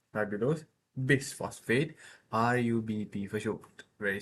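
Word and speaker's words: ribulose bisphosphate: Ribbulos bis phosphate is pronounced just like this. Riulos bis phosphate bis phosp ribulose bis phosphate rub bp for sure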